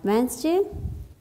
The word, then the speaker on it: Wednesday: a choose J white Wednesday ee has a song woo he has a song D has a song too but it is silent here and hanison hmm he